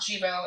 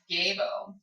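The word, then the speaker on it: Gebo: too uh gay boo so I've been saying sibo and the pronunciation is actually not that way I discovered um so the pronunciation uh Jibo it's not Jibo it's gabo um and so I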